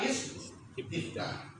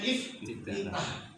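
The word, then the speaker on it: استفتاح: Kemudian dia memulai dengan membaca doa istiftah. Istiftah kita seringnya nyebutnya iftitah. Iya. Istiftah. Istiftah. Istiftah. Ini kan agak agak ribet.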